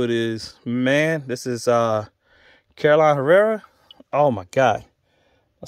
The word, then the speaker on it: Carolina Herrera: If you don't know who it is, man, this is Carolina Herrera. Oh, my God. Am I saying it right? Yeah, Carolina Herrera, man.